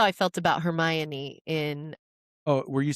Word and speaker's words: Hermione: Rowling because in the fourth book, she had a Romanian character who had a crush on Hermione, but he was calling her Hermonini. Yeah. And J.K. Rowling did the pronunciation Hermione because I guess she was finding out that nobody was calling Right.